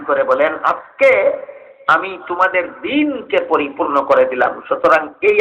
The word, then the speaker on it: দ্বীন: বাংলা দ্বীন শব্দের উচ্চারণটার মধ্যে একটু, এটা হলো হ্রস্ব ইকার দিয়া, আর আরবি দ্বীন শব্দটা হইল দীর্ঘ ইকার দিয়া। হ্রস্ব ইকারে আর দীর্ঘ ইকারে যে ব্যবধান বাংলা দ্বীনের উচ্চারণে আর আরবি দ্বীনের উচ্চারণে, সেই ব্যবধান। বাংলা দ্বীনটা বলা হয় দ্বীন, আর আরবি দ্বীনটাকে বলা হয় দ্বীন, যেহেতু দীর্ঘ ইকার।